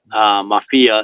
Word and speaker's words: Mafia: the Mafia in Sicily, always mispronounced. Mafia is the name, and the name comes from a fable, and the fable goes back to the French occupation.